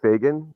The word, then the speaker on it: Fagan: It's Fagan, Fagan. So just like it's spelled.